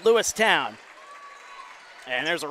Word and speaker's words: Lewistown: Lewistown not a preference it's said how it's spelled lewi town and there's a right